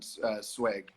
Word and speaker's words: Zweig: my mom says in the comments here that her favorite writer is Stefan Zweig. Zweig.